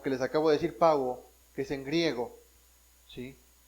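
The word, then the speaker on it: παύω: El término terminó en griego es pauo, P-A-U-O, pauo.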